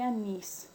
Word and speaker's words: anís: Las palabras agudas u oxítonas, cuando la mayor fuerza de voz recae en la última sílaba. Y tenemos el caso de corazón y anís.